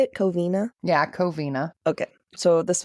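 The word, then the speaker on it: Covina: the cavine is that how you say it coina yeah coina okay so this one's the Cina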